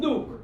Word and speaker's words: Newark: See, it's really Newark, Newark, but we pronounce it. Yo, I'm from Nuke.